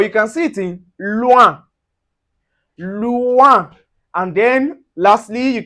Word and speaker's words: loin: So you can see anywhere you see the o u plus the i or you can see o u plus a vowel. So it gives us the oui.